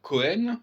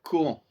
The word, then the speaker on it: Cohen: Au lieu de dire Cohen, il faut dire Cohan.